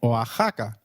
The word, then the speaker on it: Oaxaca: Did you notice that the X in Mexicano is pronounced as H? While X is usually pronounced as X inflexible, it is pronounced as a throaty H in the words Mexico, Mexicano, and Oaxaca, which is a state in Mexico.